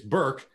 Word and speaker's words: berk: god I am you're talking about Burke its Burke oh it links game Planescape planes Burke is short for Berkshire hunt rhymes with times and so they're